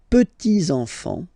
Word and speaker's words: petits enfants: Okay, so les petits enfants. Make this liaison here. Petits enfants.